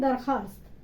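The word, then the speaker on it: درخواست: तो इसको लिखते हैं दरख्वास्त लेकिन पढ़ते हैं दरखास्त। ठीक है, छुट्टी की दरखास्त। तो यहाँ पर वाव जो लिखते हैं लेकिन पढ़ेंगे नहीं, तो ये होगा दरखास्त।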